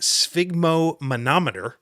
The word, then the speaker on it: sphygmomanometer: So this word here has more syllables than should be permitted in a single word, but I believe it is pronounced sphygmomanometer.